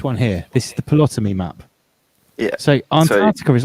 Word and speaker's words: Ptolemy: This is the original Greek map where the theory comes from Ptolemy.